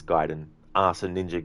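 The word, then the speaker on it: Gaiden: is it gayen or giden ammunition some folks pronounce it like gayen but it's giden ah so ninja G Ninja giden it's so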